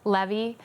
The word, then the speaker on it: Levi: And so she's Joy Levy. His middle name was Levi, but I pronounce it Levy.